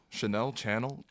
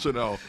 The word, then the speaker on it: Chanel: Chanel Channel. Let's give him Chanel. What kind of It's just- tariff type pronunciation just was that? channel, It's just channel, man. man. It's Chanel.